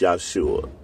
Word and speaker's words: Yahshua: a h yua and it's going to be pronounced yua the Greek gave it